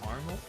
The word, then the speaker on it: Carmel: Last thing we're gonna do for today is the scenic drive, which is the Mount Carmel.